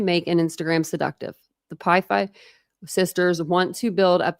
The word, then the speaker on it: Pi Phi: The slip of paper in Maddie's envelope tells her she's been picked by Pi Beta Phi, known as Pi Phi, pronounced Pi Phi, a perfectly respectable sorority, but not generally considered a top house on campus.